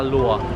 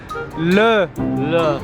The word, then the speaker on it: le: Not lo, le. Le. Auberge law. Not lo. Le. Le. Le. There. Le Pomerol.